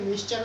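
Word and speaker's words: Miescher: इनको कहीं कहीं मिसर भी लिखा होता है, लेकिन मिक्सचर उसका उच्चारण है, जिन्होंने 1871 में न्यूक्लिक अम्ल की खोज की थी।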